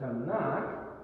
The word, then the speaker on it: Tanakh: If you have a Hebrew Tanakh, or it might be a Chumash, but the Chumash means 5. It's the first 5 books, which is the Torah. The Tanakh, the phonetics T-N-K, Torah, Nevi'im, Keterim.